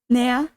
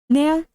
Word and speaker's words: nea: Nea. I guess you probably don't pronounce the D. Nea.